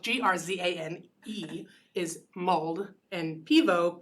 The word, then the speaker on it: Piwo: Jane, spelled Grzane, is mulled, and Pivo, Piwo, is beer in Polish. Pivo.